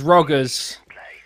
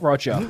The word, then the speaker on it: Roggers: and I've got confirmation it is roggers not Roger so Roger roggers is